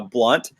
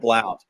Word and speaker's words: Blount: that's not from the South, which is heaven, pronounces it Blount. But if There you're we go. you're south of the Mason-Dixon line and east of the Mississippi, it's pronounced Blunt. The O is silent. So, but you can call me Blount or you can call me Blunt. Either one of them. Either way works.